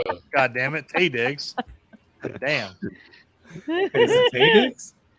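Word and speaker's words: Taye Diggs: It was Yeah, Ty, yes, you go to Google, it's going to tell you it was Ty Diggs. Tay Very Diggs, first of all. true. God damn it. Tay Diggs.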